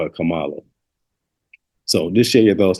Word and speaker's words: Kamala: the name out there it's a Indian name so generally is pronounced Camala y'all know plenty of